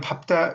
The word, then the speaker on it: 밟다: 그다음 밥다. 이것도 밝다란 말로도 막 발음하는데 이게 아니라는 거예요. 밥다, 밥고, 밥지, 밥게, 밥소.